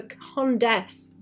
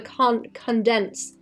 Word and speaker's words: Condesce: Her name is the the condes as in like condescension, but people call her the condens as in like condensed milk.